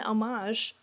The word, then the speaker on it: homage: Number 1 is when Millie, possessed by the butcher, uses a large hook as the murder weapon, it is likely an homage, I learned is how you say that, to the hook killer in I Know What You Did Last Summer.